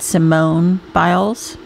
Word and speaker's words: Simone Biles: I think she pronounces it Simone Biles.